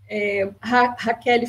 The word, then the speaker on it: Rachele: Raquel, mas se escreve Rachele, né?